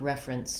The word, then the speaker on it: reference: vowel they're doing there what's important is that my clear f vowel is on the first syllable and then i'm very short and reduced on the second syllable prince friends i almost